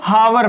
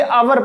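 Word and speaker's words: hour: ठीक, अब देखिएगा कुछ लोग इसे हावर पढ़ते हैं। क्या पढ़ते हैं, हावर, लेकिन ये हावर नहीं होता है। इसमें जो एच होता है वो साइलेंट होता है, एच को पढ़ा नहीं जाता, इसे आवर पढ़ा जाता है।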